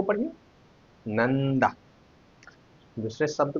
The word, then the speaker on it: नंदा: दूसरा शब्द हमने लिखा नंदा। यहां पर न अनुस्वार का उच्चारण हो रहा है न।